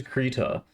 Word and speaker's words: Krita: It says Krita on the pronunciation guide. So I guess it is Krita.